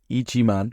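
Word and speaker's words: 一万: But pronounced Ichiman, so it's an itchy man.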